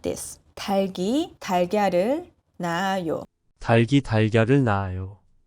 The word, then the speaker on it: 닭: 닭 is pronounced as 닭, not 달. However, when it encounters 이응 at the back, 닭이, no, 달기, 달기. So here, 리을 stays and 기역 goes to the back.